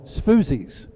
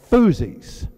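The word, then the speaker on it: Sfuzzi: the S the uh the restaurant is called foozies the S is silent and I turned and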